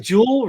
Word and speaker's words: Juul: this is cool right Jewel right that's how you say it Jewel to pay 1.2